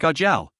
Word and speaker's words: Ajiao: TL, Ajiao is pronounced like Ajiao. Jiao is the name, A is just there as a prefix to make like the Japanese suffix John.